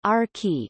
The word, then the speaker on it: Archy: Archimedes, or Archie, pronounced Arki, is kind and good-natured,